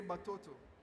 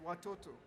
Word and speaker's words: watoto: uh let's say Congo they would say boto you know boto which is in their own way of speaking is correct but in propa Swahili the right way to say it is watoto you see so watoto